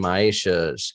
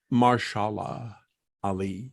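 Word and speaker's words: Mahershala Ali: I was gonna say yeah Jennifer Connelly and maisha's character would be I mean they were the ones that are happy I'm sorry did I mispronounce that what is it martial law Ali yeah I'm sorry it is martial law the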